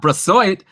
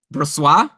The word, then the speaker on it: Brossoit: It's instead Laurent Brossoit, who I think... Oh, no. No. You know that's not how to say it. Brossoit?